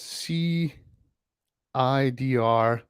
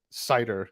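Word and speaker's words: CIDR: uh Alessandro is saying that he always pronounces it as C I D R. Yeah, that's what I was going originally with as well but then it's like it's much faster if you said cider.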